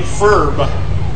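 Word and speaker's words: Pherb: with a frog name furb that's spelled with a p h e RB furb Caitlyn kitchell probably had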